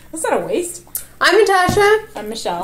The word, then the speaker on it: Natasja: what's going on is that a waste i'm natasha i'm michelle it's pronounced natasha and pronounced michelle and we are writers yep